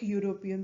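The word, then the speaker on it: European: ये एक वॉल है, लेकिन इसका जो प्रोनाउंसिएशन है वो YOU से शुरू हो रहा है जो कि एक कॉन्सोनेंट है, इसलिए हम इसके आगे एन न लगाकर अ लगाएंगे।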